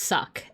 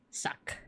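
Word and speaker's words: sak: This is the glyph for black and it's pronounced. That's I k apostrophe. And this is the glyph for white and it's sock. S A K suck.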